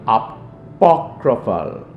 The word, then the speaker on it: apocryphal: These books are called apocryphal, not apocalypsis, because that is the last book in the Bible. It's called apocryphal.